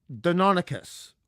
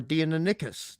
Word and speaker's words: Deinonychus: Honestly, the cassowary, and I've said this often, is the modern Deinonychus or Deinonychus, depending on your pronunciation.